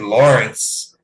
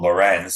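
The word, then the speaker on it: Lorentz: Signed Steve Lorenz, and apparently it was pronounced Steve Lawrence during his run with Florida, but he has corrected it and he wants to be called Lorenz.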